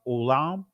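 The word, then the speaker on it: עולם: Again, in the Israeli, it's pronounced olam. And again, I'm not getting into all this, the specifics, the semantics, because again, there was no O sounds in ancient Hebrew.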